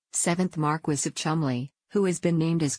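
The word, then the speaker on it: Cholmondeley: the spouse of David shumley pronounced Chumley seventh Marquis of Chumley who has been named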